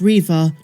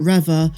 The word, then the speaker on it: Reva: savanda and interestingly enough moses pronounces it riva not revere so maybe that's how